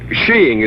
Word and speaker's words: skiing: little what she oh there are other pronunciations I suppose but in England and Norway sheing is considered most acceptable under the proper conditions you can't knock it